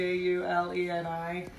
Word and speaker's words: giugiuleni: I don't even know so I always pull it ju j k u to ju ju le ni but that's really how you pronounce it you spell it